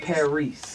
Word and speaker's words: Paris: It's spelled like Paris, but it's pronounced Paris.